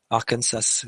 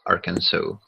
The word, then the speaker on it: Arkansas: he on about and it's actually a French origin for the pronunciation so there he goes